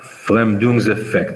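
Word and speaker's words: Verfremdungseffekt: the stage right right it's called their flam doom's effect this is how the germans pronounce it their fram doom's effect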